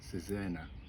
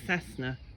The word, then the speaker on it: Cesena: Tomorrow it's out east to, I think it's pronounced Cesena. Is he? I've been calling it Cessna.